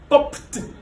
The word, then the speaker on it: popped: Ici, par exemple, on a pour le premier, le p, on a popped. On entend le son T. Popped. Donc, il faut très bien prononcer le son T à la fin.